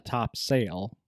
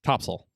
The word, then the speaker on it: Topsail: it's named after the top sale of the ship but it's not pronounced top sale correct topsail that's the that's that's